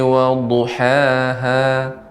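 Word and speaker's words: وضحاها: Wasyamsi waduhaha. Ya, untuk huruf dhad itu lebih ditambahkan lagi Nek. Wasyamsi wadduhaha.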